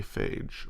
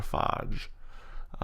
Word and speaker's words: phage: targets bacteria sometimes it's also just known as a phage or a fodge I can pronounce it can be pronounced either way this phage ultimately binds